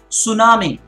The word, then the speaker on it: tsunami: so many beautiful examples T can be at the start such as the word tsunami there he is silent at ease right at the start tsunami another such example with